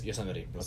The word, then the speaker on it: Yosemite: Is that how you say it? Yosemite or Yosemite? Yeah, Yosemite. Yosemite, there we go.